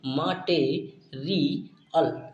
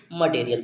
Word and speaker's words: material: इसे हम क्या पढ़ते हैं, माटे माटे री अल। क्या पढ़ते हैं, इसका जब हम प्रोनाउंसिएशन करते हैं तो इसी तरीके से हम इसका भी प्रोनाउंसिएशन करेंगे तो इसे हम पढ़ेंगे मटेरियल। क्या पढ़ेंगे, मटेरियल पढ़ते हैं।